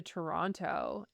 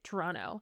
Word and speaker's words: Toronto: I remember moving to Toronto and sorry, Toronto. I was even going to say like one thing with a hard second T.